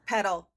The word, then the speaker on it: Petal: Petal rhymes with Gretle.